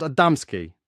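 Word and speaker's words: Adamski: to know the truth the names you mentioned are well known to us but you mispronounce them the first is called adamsky the second General V and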